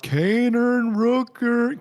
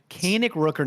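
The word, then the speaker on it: Kaenic Rookern: the game shout out Kanan Rooker Kan Rooker I messed it up I said it wrong the first time God kanic Rooker is such a great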